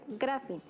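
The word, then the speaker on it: γράφειν: Bio, que significa vida, y grafía, que viene de un verbo griego que se pronuncia grafin y significa escritura o escrito.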